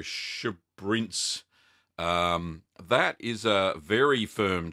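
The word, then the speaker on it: Sbrinz: Also a Swiss cheese in the Alpine style called Schabrinz. I think that's how you pronounce it. It's spelled S-B-R-I-N-Z. So Schabrinz.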